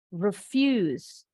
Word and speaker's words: refuse: Contoh, refuse. Refuse. Fuse-nya intonasinya lebih tinggi. Kalau yang kata kedua, refuse. Refuse. Dari re-nya lebih tinggi intonasinya. Refuse.